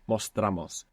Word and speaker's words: mostramos: You're not accenting anymore that O, so it doesn't split. Mostramos.